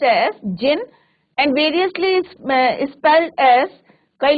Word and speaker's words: jinn: Even the clever jinn और genie, यहाँ पे D साइलेंट रहेगा बच्चों, तो इसका प्रोनाउंसिएशन होगा आपका pronounce as जिन and variously spelled as.